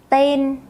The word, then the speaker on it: tên: With the word name, tên, there is no tone. So you start high and you stay high.